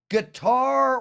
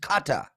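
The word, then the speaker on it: Qatar: guests thanks M2 um guitar 100. it's not a guitar it's actually many people pronounce it Kata so it's Kata a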